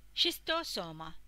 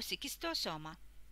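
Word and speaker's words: Schistosoma: أوفا أوف سيجستوسوما أو شيستوسوما، شيستوسوما أو سيكستوسوما، تلفظ لفظين حسب الها.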